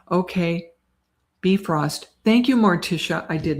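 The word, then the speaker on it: Bifröst: Pronounce. Okay. Bifrost.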